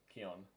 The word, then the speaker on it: Keon: Keon, rhymes with neon.